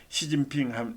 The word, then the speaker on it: 시진핑: 그러니까 습을 시라고 읽고 그는 진이라고 읽고 평은 핑이라고 읽습니다. 그래서 시진핑 하면은 우리말식을 표현은 습금평이다.